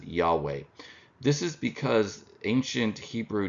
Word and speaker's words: Yahweh: per year so uh modern Scholars reconstruct the pronunciation of this name as Yahweh this is because ancient